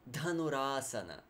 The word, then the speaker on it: dhanurasana: the ball posture dhanurasana again you hear all those de bunda dunno or duh actually it's it's one of the benefits of Sanskrit the aspirated sounds you actually practice kapalabhati